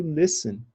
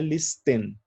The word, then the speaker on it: listen: É o verbo to listen. Olha a pronúncia, não é listen. Não tem esse, o T é mudo aqui, né? Esquece o T, fica assim, listen.